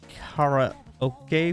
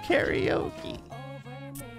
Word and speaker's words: karaoke: rent out CDs too did you just call it a Cara okay box is that really how they pronounced that it's not what that word is it's karaoke also this is where you